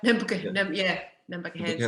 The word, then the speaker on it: Nambucca Heads: Pluto Uranus is very close to it, but pronounce this one for me, the Nambucca heads. Yeah, Nambucca heads.